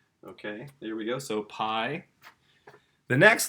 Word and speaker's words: pi: This is pi. Okay, this is the Greek P sound.